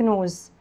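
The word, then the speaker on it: nose: الاس لما تيجي من حرفين منهم بنطقها حرف الزد، يبقى انف نوز نوز.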